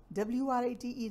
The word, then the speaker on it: write: राइट, RITE, write, WRITE, write, write an essay about your best friend. इसमें W का वज़न ज़रूर मौजूद है साथ, लेकिन प्रोनाउंस नहीं हो रहा.